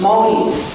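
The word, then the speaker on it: Māori: polynesians of new zealand spelled m-a-o-r-i and pronounced mommy we were recorded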